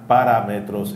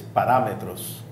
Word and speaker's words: parámetros: It's not parámetros, it's parámetros. Yo dije parámetros. I put the accent on the wrong syllable.